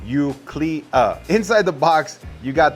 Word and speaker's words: Eucleia: And first off, the name is pronounced Eucleia.